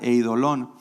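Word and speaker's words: εἴδωλον: Mira, la palabra ídolos viene del griego que se pronuncia eidolón, y esto quiere decir una imagen creada para adoración, ya sea en piedra o en metal.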